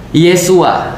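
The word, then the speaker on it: ישוע: Dalam bahasa Ibrani atau dalam bahasa Hebrew, Yesus itu disebutnya sebagai Isa atau Yesua. Jadi kalau misalnya di dalam Katolik pernah dulu saya diajarkan, Yesus itu bahasa Ibraninya adalah Yesua, Yesua.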